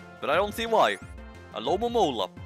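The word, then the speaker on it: Alomomola: A Lomomola. It's really not that hard. Well, I guess it's a bit hard to just decipher how many O sounds are supposed to be in that name.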